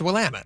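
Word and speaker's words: Willamette: Is it pronounced Wamtt or Will? It's Wamut.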